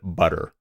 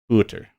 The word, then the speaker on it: butter: to get you'll notice many speakers have a hard time saying the word butter they always have to exaggerate it like booter you know because it's